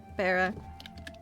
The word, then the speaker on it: Bera: Smart one, that Bera. Mm. Not bad to remember. How do you pronounce it?